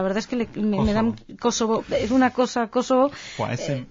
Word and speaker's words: Kosovo: Sí, vamos a ver, los kosovares de albaneses dicen Kosovo. Lo que pasa es que ellos utilizan declinaciones, y puede ser Kosova o Kosovo, pero cuando pronuncia Kosovo es Kosovo, con el acento tónico en las 3 sílabas.